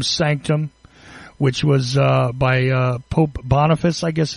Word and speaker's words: Boniface: My specific reference, just so because I was asked about this really quickly, is Unum Sanctum, which was by Pope Boniface, I guess it's pronounced, B-O-N-I-F-A-C-E, the 8th.